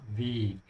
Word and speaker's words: Weg: It's der Weg. You make the E longer.